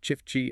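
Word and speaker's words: Çiftçi: And for our listeners, that's pronounced chifchi and burack man.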